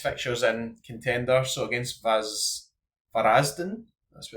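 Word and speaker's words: Varaždin: Dynamo Zagreb look like they've got one of the best fixtures in contender, so against Varazden, that's how you say it.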